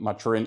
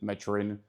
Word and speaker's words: maturin: And maturin, I'm not sure how to pronounce it because the author pronounces it maturin, but it is called after a city in Latin America, which would be Maturin, I guess.